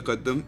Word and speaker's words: tqdm: is the tqdm library tqdm is an arabic word and is pronounced the kaddam which means progress this